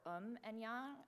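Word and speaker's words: 음양: a lot of memorization yin and yang or um and ya as the koreans pronounce it are the primal opposite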